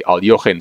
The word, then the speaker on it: Alekhine: The Aljochin defense, or the Alekhine defense. It's a hard name to pronounce, but I've learned from a Russian grandmaster that you should say Aljochin, so that's what I'm trying to do.